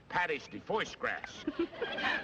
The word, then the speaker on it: pâté de foie gras: It's called pâté de foie gras. Pâté de foie gras. Oh, yeah, that's how they pronounce that.